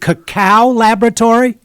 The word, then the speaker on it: Cacao Laboratory: Is it Cacao Laboratory? Correct.